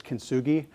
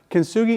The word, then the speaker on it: kintsugi: So this is called, this is one name which I have a hard time pronouncing. I believe the other word is kintsugi.